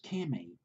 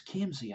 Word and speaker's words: Kimsey: his name was Chris Kimmy, it's Kimsey, it's Kimsey, I believe, is how you pronounce his last name.